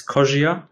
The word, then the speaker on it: Kozsir: name right i know it's actually a hungarian name it's kind of hard to pronounce for most people it's kogia i don't know if it's really pronounceable in english but yeah thanks for